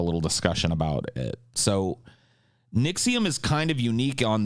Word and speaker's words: NXIVM: I guess the first one that we'll talk about is, have you guys heard of NXIVM? Sorry, I said that wrong. NXIVM. NXIVM is spelled NXIVM, by the way.